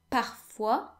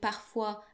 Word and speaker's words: parfois: So the S in parfois and quelquefois is silent.